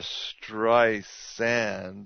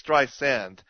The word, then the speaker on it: Streisand: Hard Z versus a soft S?